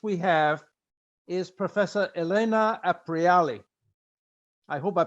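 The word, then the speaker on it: Aprile: have is Professor Elena apriali I hope I pronounced it correctly that's a Italian word Apria appear rally aprily sorry it's like the month of April okay thank you and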